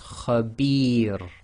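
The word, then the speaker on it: خبير: If you have the ra behaving a sakin at the end of a sentence or a stop, and it's preceded by the long vowel kasra ya, it will be light. So this is khabir.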